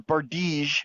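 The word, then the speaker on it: bardiche: act gear and a bardich blade uh or bardige as it's pronounced a bardige blade on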